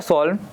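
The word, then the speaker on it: solemn: ये जो वर्ड है यहाँ पर सॉल्व, इसको यहाँ पर जो एन रहता है ना इसका, वो साइलेंट रहता है, तो उसका आप क्या बोलेंगे? सॉल्व, है ना।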